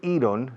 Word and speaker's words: iron: Se escribe iron, se pronuncia iron.